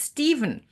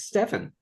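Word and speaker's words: Stephen: on the phone and their name is Steven pH V yeah s pH you know like there are all sorts of different ways of pronouncing it of of writing it with people well if you're phonetic on that one it's stepan exactly with you got the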